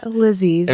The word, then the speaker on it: Lisey: lisey's figured that out lizzy's rhymes with cece yeah this is a